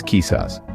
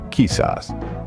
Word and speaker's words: quizás: Spanish let's break down the pronunciation kisas is pronounced as kisas say it with me kisas good now let's move on to talves this